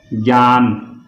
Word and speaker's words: ज्ञान: कई इसको ग बोलते हैं, जैसे ज्ञान, ज्ञान नहीं ज्ञान होता है ये।